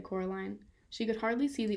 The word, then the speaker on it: Coraline: they get things wrong they got your name wrong you know they kept saying coraline not caroline not caroline at all he poked picked